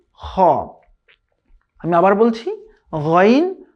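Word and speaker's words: خ: যেখান থেকে স্টার্ট হয়েছে, এই শেষ ভাগ থেকে এখান থেকে 2টি হরফ উচ্চারিত হয়। সেই 2টি হচ্ছে গাইন খ।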